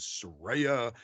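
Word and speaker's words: Saraya: for this word and the actual pronunciation is Soraya and but she's like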